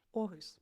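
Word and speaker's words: Aarhus: Orus.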